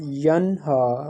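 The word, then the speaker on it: يَنْهَىٰ: Don't do kalkala over noon sakin like yan. The sound should not rebound over the non-kalkala letters. So it will be pronounced as yanha.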